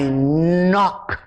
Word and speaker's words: knock: for the k it's almost as if the k is not there so when we blend